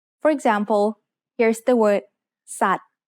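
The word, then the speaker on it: สัตว์: We write Garan above a consonant to indicate that it is a silent letter. For example, here's the word ส ั ต ว ์ which means animal.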